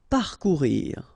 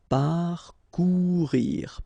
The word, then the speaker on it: parcourir: Okay, you don't pronounce the U, so risquer. Parcourir. Okay, O and U together, ou, parcourir, parcourir.